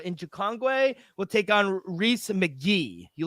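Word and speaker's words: Rhys: I saw him out it's spelled like rise like the guy from the r RH Ys yeah uh yeah he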